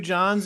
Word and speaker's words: Jawns: Those Two Johns, and neither of their name is John.